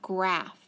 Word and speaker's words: graph: it long how about graph gr graph g g r gr ah a and then that f sound at the end p h good job how about